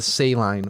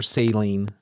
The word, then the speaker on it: saline: we have what's called the saline or saline, depending on pronunciation, confined aquifer.